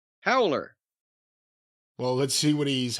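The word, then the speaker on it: Howeler: howler who what h-o-w-e-l-e-r will you just pronounce that very high holder howler well we eat after the W made me extend it a little bit how would you pronounce it howler well let's see what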